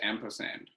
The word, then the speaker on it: Ampersand: Well, it's pronounced Ampersand. Yeah, yeah, but it's the sign for Yeah, and. but it's spelled ampersand, like the word.